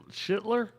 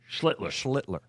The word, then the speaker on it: Schlittler: Is it Get that second L in there. Schittler? No, come on. Got to get the L's in there. I can't say it. I can't. I cannot pronunciate it. Pronounce it. Schlittler. Get them L's. Focus on the L's.